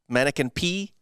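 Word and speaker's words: Manneken Pis: Yes, it's called the mannequin piss, mannequin P, P-I-S, I think. So it's French, so you don't really pronounce the S on that.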